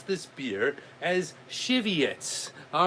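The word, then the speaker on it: Żywiec: me a cheat sheet and it says you pronounce this beer as cheviots all right what's up tmds brother steve brother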